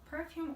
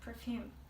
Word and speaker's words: perfume: and vocabulary usage tips perfume or perfume what is ink which is correct actually both are correct so you can say both perfume and perfume when using this word